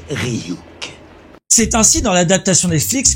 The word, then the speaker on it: Ryuk: E petit, ça se prononce Ryuk.